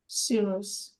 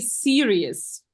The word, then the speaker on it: serious: watch TV and read this word please TV sirious sirious yes and this one and this one is cereal but we eat it at AIA yes TV serious we watch cereal we eat yeah yes okay